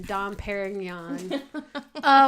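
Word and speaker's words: Dom Pérignon: celebrating how do you how do you like that for good French pronunciation Dom Perignon we're celebrating our one-year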